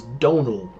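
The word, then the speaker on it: Dónal: Uh, for watching this is Donal is how you pronounce that name.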